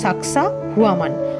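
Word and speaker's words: Sacsayhuamán: লড়াই চালান সাকসুয়ামান থেকে সাকসুয়ামান শব্দটা আমরা একসঙ্গে উচ্চারণ করলেও আসলে কিন্তু তার দুটো শব্দ সাকসা হুয়ামান অর্থাৎ তৃপ্ত বাজপাখি কিছুক্ষণের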